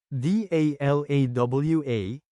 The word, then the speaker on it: dalawa: letter e and a t a h then pronounce it as Isa d a l a w a is number two in Tagalog change a a